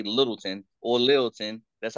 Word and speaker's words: Littleton: from Littleton North Carolina you don't say little town you say Littleton or Littleton that's how